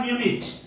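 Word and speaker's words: minute: মিনিট মানে মনে রাখবেন আরেকটা মিনিটের উচ্চারণ হয় মিউনিট মিনিটের উচ্চারণ হয় মিউনিট যেটার বাংলা হচ্ছে ক্ষুদ্র যেটার বাংলা হচ্ছে ক্ষুদ্র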